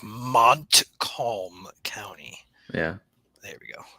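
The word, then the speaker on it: Montcalm: and mome he really got to nail that pronunciation yeah I know I'll be I'll be more precise I'll be like Mont Colm County yeah there we go especially for our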